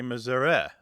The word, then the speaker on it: Missouri: Because some Missurans don't say Missouri e or h. They say Missouri. More like the e in get or met. Yeah. And that readily lends itself to becoming a schwah.